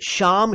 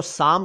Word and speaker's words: श्याम: एक शब्द है साम कई लोग श्याम शब्द को साम कह देते हैं प्लीज ना कहा करें क्योंकि श्याम अलग है साम अलग है श्याम का अर्थ आप